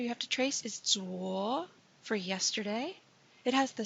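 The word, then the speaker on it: 昨: The next character you have to trace is Zuo for yesterday.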